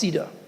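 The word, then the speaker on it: CEDR: for Effective dispute resolution c d pronounced Ceda p to the setting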